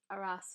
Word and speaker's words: Aras: It took me years to realise that Aras was how his is said to.